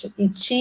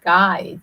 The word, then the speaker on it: Chi: I said it's Chi, it's not Kai, it's Chi, like Chi in Tai Chi, it's energy.